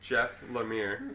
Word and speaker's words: Lemire: which is really funny and his name is jeff lemire yeah i got it right through the whole